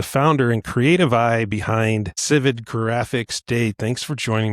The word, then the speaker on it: Sivad: It's not Civad, it's Civid.